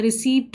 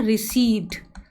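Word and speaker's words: receipt: आप कह रहे होगे यार मैम ये क्या बोल रही, इसको तो हम कुछ और प्रोनाउंस करते हैं, रिसीप्ट बोलते हैं, बट इसका एकदम अलग हो जाता है। ये होता है आपका रिसीट, रिसीट।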